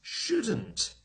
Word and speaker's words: should: H o UL d but the L is silent we don't say it one more thing about